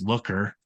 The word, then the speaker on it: Looker: In case you have trouble uh with my pronunciation, it's Looker.